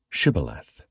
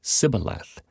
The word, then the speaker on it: Shibboleth: If the man said, "No, I'm not," they would tell him to say, "Shibboleth." If he was from Ephraim, he would say Sibboleth, because people from Ephraim cannot pronounce the word correctly.